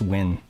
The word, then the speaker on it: Nguyen: Yeah, you don't actually pronounce the N. I don't think it's just win. But it's like W-I-N.